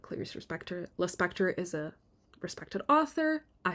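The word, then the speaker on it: Lispector: is an actual knowledge it's Le Spectre rhymes with Hannibal Lecter Clarice is a character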